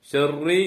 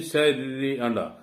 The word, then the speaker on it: شر: ഷർറി എന്നാൻ പാടില്ല. രാ എന്ന ഉച്ചാരണം അതും വരാൻ പാടില്ല. അത് രണ്ടിന്റെ ഇടയിലുള്ള ഒരു ഉച്ചാരണമാണ്. മിൻ ശർരി മിൻ ശർരി മാ ഖലഖ്.